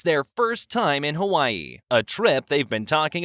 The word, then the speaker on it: Hawaii: Honey, I'm pretty sure it's pronounced Hawaii. You know, with a W sound, he says, trying to sound casual but unable to resist correcting her.